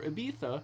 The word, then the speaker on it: Ibiza: So right now, So right now we are on the island of Ibiza, or Ibiza if you want to be annoying. I know that's how people actually pronounce it from there, but I get annoyed sometimes.